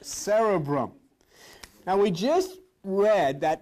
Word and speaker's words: cerebrum: That word is not pronounced cerebrum. There is a cerebral, this is cerebrum. How do I know it's pronounced the way? Because I have a talking dictionary, that's how I know. And they pronounce every word. And the guy, when this comes on, says, cerebrum. Woo, that's what I wanted to hear, see?